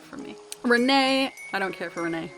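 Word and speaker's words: Reneigh: So it appears that there's another villager called Renee, but it's going to be spelled like Renee, like Neigh, like Renee, like a horse.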